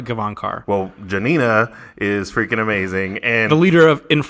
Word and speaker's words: Gavankar: that outside I mean every interview that I've watched is they pronounce it Nina Kevon car well Janina is amazing